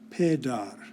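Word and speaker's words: پدر: There's a little line under the P, there's a little line over the D, and that means that this word is pronounced pedar.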